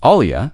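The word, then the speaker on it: olla: An olia spelled o l a and generally said the same way it is spelled is an unglazed clay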